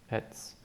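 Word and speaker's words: עץ: SS SS means tree ETS notice the I at the front we covered it already that's a silent letter the next sound is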